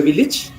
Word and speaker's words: village: Village in English is pronounced as village. Village. The same V.